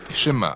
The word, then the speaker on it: Shema: de toute sa force le premier mot du schéma est écoutée ou entendre prononcer chemin en hébreu et c'est ce mot